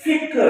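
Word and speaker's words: فِکْر: ہے، کاف ساکن ہے۔ اسی طرح لوگ کہتے ہیں فکر، عام بول چال میں جو غلط لفظ ہے فکر کہتے ہیں، صحیح معنوں میں فکر ہے، کاف ساکن ہے، فکر نہیں ہے۔ اپنی فکر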